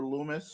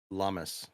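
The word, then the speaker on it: Lummis: to do with Stellar Lumis or is no no no it just sounds it just sounds the same that'd be the best plot twist ever well I think her name's pronounced lamus yeah Lumis lamus whatever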